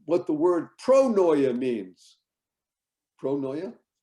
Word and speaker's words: pronoia: people here know what the word pronoia means pronoya how do you spell it even well pronoia p-r-o-n-o-i-a pronoya you won't find a one in a thousand